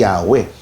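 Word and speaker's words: Yahweh: Kaya eventually yun yung universally accepted na pronunciation eh Yahwe dahil nga isinal naman ito sa ibang wika.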